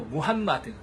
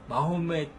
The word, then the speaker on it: 무함마드: 그래서 이제 쉽게 알라후를 알라라고 표현하는 것처럼 무함마둔을 무함마드 이렇게 발음할 수 있어요.